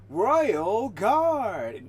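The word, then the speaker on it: Royal IV Guard: It's not Royal for Guard. The 4 is silent. The IV is silent. It's Royal Guard, not Royal Dash IV, which is for Dash Guard. It's just Royal Guard.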